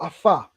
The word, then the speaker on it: Afa: In ancient Kemet, it's called Afa, AFA. Afa. Yeah, Afa. So, It was Afa, Afa. okay. Yeah, so it's pronounced as AFA.